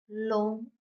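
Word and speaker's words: 龙: Leo six the number l long long second tone l long means dragon l o l low.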